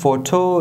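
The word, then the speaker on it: photo: پنځم ترکیبي توري چې دی هغه پی اچ دی چې په عربي ف باندې تلفظ کیږي او مثال په فوټو لغات کې واضح شوی دی.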